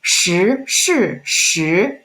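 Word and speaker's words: 十: second tone and then some students having trouble to pronounce second tone accurately is sure it's like someone called her name and then you're like what so it's sure okay and then let's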